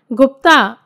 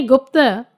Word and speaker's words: गुप्त: सर्वप्रथम तो एक तथ्य बता दें कि श्री ब्रजेश जी ने अपना उपनाम गुप्ता इस प्रकार लिखकर भेजा है। इसे मैंने गुप्त उच्चारण किया है क्योंकि गुप्त ही योग्य उच्चारण है।